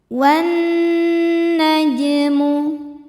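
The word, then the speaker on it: والنجم: Wan najmu. Jim sukun dihukumi qalqalah sughra karena huruf qalqalah jim sukunnya sukun asli dan ada di tengah bacaan. Cara bacanya dipantulkan jimnya dengan pantulan yang kecil.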